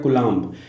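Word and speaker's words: Coulomb: जाता है ठीक है कूलाम पढ़ा जाता है कलाम लिखा जाता है ठीक है तो कलाम ही पढ़िए कलाम लिखा जाता है ठीक है तो बी या ब साइलेंट रहता है तो ऐ ए मात्रक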